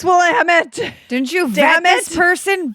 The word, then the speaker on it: Willamette: an Anne Rule book, and the narrator kept pronouncing it Willamette. And so I was screaming at the audiobook, yes, it's Willamette.